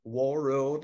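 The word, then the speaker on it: Warroad: but fact spell that the first word War Road like War Road um w a r r o a d okay we're on Lake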